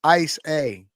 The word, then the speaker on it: Issa: Says it's pronounced Ice A.